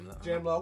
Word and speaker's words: Jamla: To all of them over there, the Soul Council, the whole Jamla, if I pronounced it right, Jamla, okay, because I was pronouncing it wrong at one point.